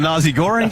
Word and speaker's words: nasi goreng: And he's had a trouble with nasi goreng. Is that how you say it? No, I said that wrong. Nasi goreng.